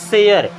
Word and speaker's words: share: Then SHARE, इससे क्या पढ़ेंगे दोस्तों, शेयर, क्या पढ़ेंगे, शेयर।